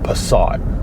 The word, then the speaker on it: Passat: to pick up a vw passat also known as a passat if you're watching this in america a passat which i always thought was a bit of a weird pronunciation anyway it's a vw passat